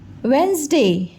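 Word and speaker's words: Wednesday: वेंसडे pronunciation करते नहीं, लिखते समय हमें क्या ध्यान रखना है कि हमको लिखना है वेड, W-E-D, वेड, नेस, N-E-S, नेस, डे, D-A-Y डे, वेडनेसडे। लिखना है हमको वेडनेसडे। प्रोनाउंसिएशन क्या करना है, बोलना क्या है? वेंसडे, वेंसडे।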